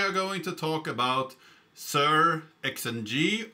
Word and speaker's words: SearXNG: Today we are going to talk about sir xng or searching perhaps we could pronounce it like and that's much easier than sir xng and I'm going to say it a lot in this video.